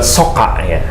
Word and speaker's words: Socca: hari ini mungkin mewakili sok kaya ya bacanya sok kaya sok cak kocak dari mata dari mata Ayo mata bahasa Sundanya so cak kocak atau kalau udah banyak